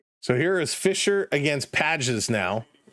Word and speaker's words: Pages: So here is Fisher against Pages now. Pages, excuse me. Pages is the correct pronunciation.